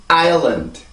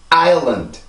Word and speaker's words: island: 하지만 이렇게 앞에 아일랜드, 섬을 나타내는 이런 발음이 될 때는 아일랜드가 아니라 아일랜드. 이 발음이 요 발음이 아니고 이 발음으로 바뀌게 되는 거예요. 그래서 랜드라고 발음이 돼요. 아일랜드가 아닙니다. 아일랜드예요, 반드시.